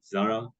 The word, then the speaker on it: Zara: you all know that Zara or as it's pronounced in Europe Zara The Zed is with a bit of an S um it's a Spanish